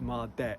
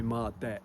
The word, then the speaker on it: Mardek: M deck. So, this is going to be Mard deck.